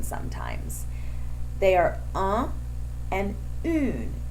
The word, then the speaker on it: un: They are un and une. UN is pronounced un. UNE is pronounced une.